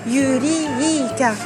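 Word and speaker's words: ユリーカ: Alors là, la difficulté, c'est l'allongement. Yuri, trait, ka. Le trait, ça matérialise l'allongement de la voyelle. Donc, Yurika.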